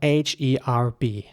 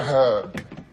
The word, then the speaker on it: herb: A rather rare herb, Gilly-wig. And in American English, the H is not pronounced in many cases, so it's herb. Not herb, that would be British,